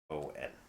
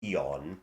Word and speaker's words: Aion: Aion. I know it could be pronounced Eon, but like you know.